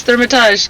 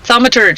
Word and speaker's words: Thaumaturge: Thermitage. Get in here. Thaumaturge. See? I always mispronounce that.